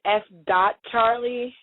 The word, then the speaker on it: S. Charlie: us about your company s Charlie Productions well s it's actually pronounced s. Charlie so we actually pronounce the dot in there so creative thank you um it's s.